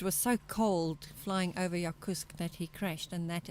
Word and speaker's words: Yakutsk: We left off in Yakutsk. That's how you pronounce it, eh? Yakutsk. Yakutsk, yeah.